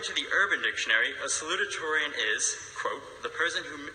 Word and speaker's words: salutatorian: to be salutatorian first of all it isn't pronounced salad ich Torian as I recently learned but rather salutatorian it's very important that you pronounce it correctly